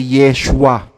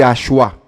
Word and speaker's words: Yeshua: ninyo sa wikang hebreo Yan po ay Yeshua hindi yoshua walaa pong yoshua imbento po